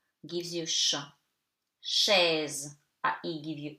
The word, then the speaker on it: chaise: Chaise, AI give you E. And later I will explain you how to read the S. So chaise, you don't read the E at the end. Letter E is silent.